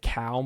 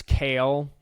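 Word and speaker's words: Cale Makar: pronunciation uh she said instead of uh Cal I think I said cal marar um instead of Cal it's Kale like the salad so he will now be referred to as kale salad and apparently he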